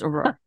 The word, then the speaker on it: Auror: Did I pronounce it wrong? Aurora. Okay, I wasn't sure. Aurora. It is Aurora.